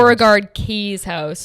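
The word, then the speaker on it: Beauregard-Keys House: Beauregard Keys House. That's how you pronounce it.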